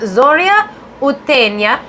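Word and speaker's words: Зоря Утренняя: uh she's also so zoria uttena is how you say it in russian and zorza purana is the polish you say and it almost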